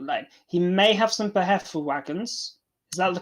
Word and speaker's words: Befehlswagen: He may have some Behelfelwagons. Is that the correct? Pronounce it for me, Darkness? Befelswagen. Befelswagen. Befehlswagen.